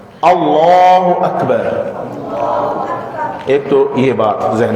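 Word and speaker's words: الله أكبر: یہ جو لفظ اللہ ہے اس کی زبان کو پر پڑھنا ہے، اس کو پڑھتے وقت ہونٹوں کو گول رکھنا ہے، اللہ اکبر۔ ایک تو یہ بات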